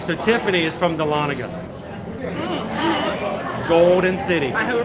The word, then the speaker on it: Dahlonega: do you say that that's dahlonega at least that's how we say it so what's that how